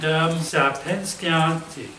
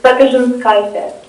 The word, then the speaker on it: Sapinskaitė: Okay, and Sapinskianti. I just butchered it there. I'm sorry. It's my Lithuanian last name because from my grandpa, he was from Lithuania. So I'm fully Eastern European, 25% Lithuanian. So it's Sapinskaitė. Okay, thank you.